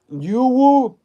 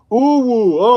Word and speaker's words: UwU: Yuwu. Yuwu. Is that what it is? Yuwu. Yuwu. Hey, Lawton D. Smith, is that Yuwu or what does it say? Uwu. Okay, I get you now.